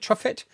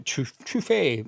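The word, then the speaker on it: Truffert: How do you say is it truffet? English version is Truffet, right? It's probably Trufet, but we'll call him Truffett on this channel.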